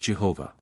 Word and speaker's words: Jehovah: It is supposed by some that Yahweh is the proper pronunciation of this word, but as the first